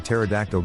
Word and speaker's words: pterodactyl: from the National Zoo why can't you hear a pterodactyl go to the bathroom because the p is silent I love signing documents